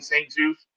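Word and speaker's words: St. Juste: How do you pronounce that last name? Saint Juice.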